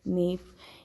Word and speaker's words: knave: In all these words, we do not pronounce the sound of the letter K. So we have to remember, when K is before N, when it precedes the letter N, we do not pronounce it.